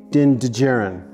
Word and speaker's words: Din Djarin: Siri, how do you say Din Djarin?